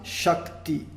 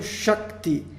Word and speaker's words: Shakti: Então, Sha vai ser um A curto, porém seguido de K e T, duas consoantes. Isso torna a sílaba Sha longa.